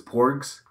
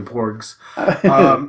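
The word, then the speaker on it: porg: sound really off so I think the pronunciation is porks like pork pork but porks like with a GS it look like a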